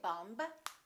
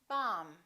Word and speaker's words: bomb: example don't know that the b is silent in the word bomb we don't say bumb we say bomb let's review some very